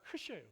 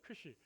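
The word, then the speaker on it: χ: 크리스마스야라고 이렇게 설명을 해 주시고 저 X는 영어의 X가 아니고 헬라어의 X가 아니라 크이에요. 크시 같이 한번 해 볼까요?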